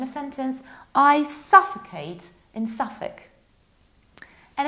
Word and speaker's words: Suffolk: So it's Suffolk. Suffolk sounds a little bit like suffocate. So let's imagine a sentence. I suffocate in Suffolk.